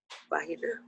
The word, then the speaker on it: vagina: Vagina? Vagina with the, you pronounce the G as an H, vagina.